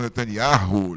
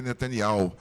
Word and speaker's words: Netanyahu: aliás, as pessoas falam Netanyahu, né? E eu fico até meio assim, encabulado de falar o nome certo. O nome dele é Netanyahu. Esse H não deve ser pronunciado. O Bibi para os íntimos.